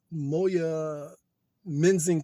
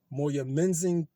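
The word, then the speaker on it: Moyamensing: front of a crowd of the city's uh moya menzing prison m-o-y-a-m-e-n-s-i-n-g moya menzing prison i believe that's how you pronounce it at the killer's request he was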